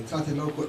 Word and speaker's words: Tlatelolco: The Tlatelolco, I think to pronounce it in a proper way, Tlatelolco Agreement, which was concluded in Latin America for that.